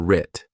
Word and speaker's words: writ: Our successes and failures were writ. Did you spell this, starting with AR or with AW? The West is silent, just like in the word right.